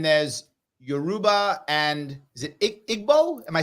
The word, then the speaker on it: Igbo: right and then there's Yoruba and is it Igbo am I saying it right yeah evil thank you evil yes Evo is fine you can just say evil IBO thank you yes so I know there are